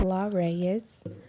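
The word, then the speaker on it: La'Reyes: is my modeling name my name is La Rees okay so la like how do you spell it l a apostrophe r e ye s okay laras okay the kingdom I see you see yeah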